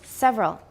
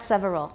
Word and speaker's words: several: good all right several we usually say it with how many syllables several how many just two not several several is not wrong but it's it sounds too careful several several component frequencies